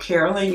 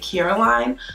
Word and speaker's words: Carolyn: When I was younger, I was really self-conscious about the name, so I would pronounce it Caroline so that it would feel more familiar with people, because I just feel like every time I say Carolyn, everyone was like, what?